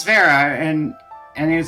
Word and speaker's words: Vera: like trying to figure out what the correct pronunciation for my name was and I'm like oh it's Vera and and it was like oh it says